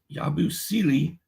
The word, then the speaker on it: Yabusele: And then Yabusele and Andre Drummond tonight.